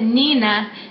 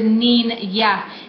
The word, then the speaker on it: niña: If you would think of like onion. Entonces, no, the word isn't Nina, no, the word is niña.